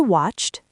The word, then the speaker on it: watched: Watched. T- sound.